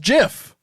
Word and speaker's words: GIF: from beyond the grave it's pronounced jif not gif shut the up uh yeah i'm never doing that yeah it's dumb he said it's pronounced jiff he said it i